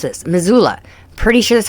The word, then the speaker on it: Missoula: I should know how to pronounce this. Missoula.